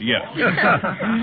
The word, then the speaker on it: yak: But Tibetans drop the final K. It's spelled yak and pronounced yak.